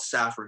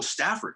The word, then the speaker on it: Safford: Partly, well, but I'm from rural Arizona, a little place called Safford. I always got to spell it out. Safford, because sometimes people say, "Oh, Stafford." Right. No. No.